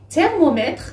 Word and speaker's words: thermomètre: Thermomètre, c'est thermométre. Il y a le E à la fin. Dans la langue française, le E à la fin, il ne se prononce pas, c'est thermomètre.